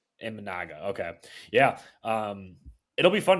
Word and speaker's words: Imanaga: Shada Imanaga. Imanaga.